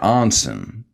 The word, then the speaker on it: Anson: We'll let it go because you let go of my pronunciation of whale. Actually, I should have said Anson.